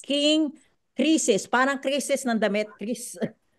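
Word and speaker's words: Croesus: check online and I've it says that it's pronounced King Crisis parang krisis ng damit Kris krisus Crisis Okay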